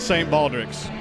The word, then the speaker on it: St. Baldrick's: St. Baldrick's.